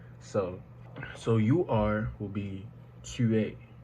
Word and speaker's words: tu es: The S on the e is silent, so you only hear the E, so you only really pronounce the E is what I meant.